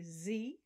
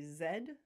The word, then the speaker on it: zed: and the final letter americans say z british people say zed the sound is zebra